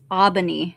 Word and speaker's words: Aubigny: By the way, it's Aubigny. You don't pronounce the G.